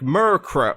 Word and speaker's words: Murkrow: and so I was going like murkrow like the pro part Crow is spelled with a K so I feel like that really like yeah okay sure oh yeah it's murkrow got it uh this